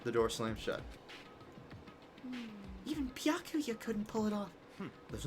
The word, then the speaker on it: Byakuya: Bakula. It's Byakuya. Byakuya. Okay, that's how it's pronounced.